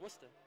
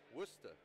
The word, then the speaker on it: Worcester: I would say Worcester. Yeah. You would be wrong, my guy. Dorchester. You guys can't see it because it's Dorchester. Glaring. That's pronounced Worcester. One more time. That's pronounced Worcester. Worcester.